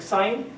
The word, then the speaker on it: sign: know like inside you're in english when you have like sign s-i-g-n you cannot you don't pronounce g yeah it's there but you cannot you don't pronounce it so the same thing